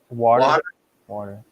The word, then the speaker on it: water: for a glass of water order you can say it's not it's not it's not with a we don't pronounce it with a t we pronounce it with a d water water give me